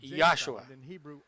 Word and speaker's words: Yahshua: Eu pronuncio o nome de nosso Messias claramente como Yahshua. Não há J em hebraico ou grego, e Jesus não tem significado nenhum em hebraico.